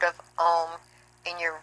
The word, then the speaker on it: Om: The Hindus speak of this Holy Ghost as the Om. It's A-U-M. A stands for Akar, or creative vibration, U for Ukar, or preservative vibration, and M for Makar, or destructive vibration. Om, and it's spelled in this text as A-U-M.